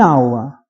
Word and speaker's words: hour: But an hour, where H is not pronounced.